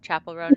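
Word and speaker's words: Chappell Roan: don't think is it Chapel rone or Chappelle it's Chapel right Chapel rone not chapel chapel like a yeah a chap like church yeah like I always want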